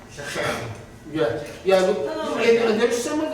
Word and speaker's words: Shechem: the name in there, you're pronouncing Shechem, should be pronounced Shechem.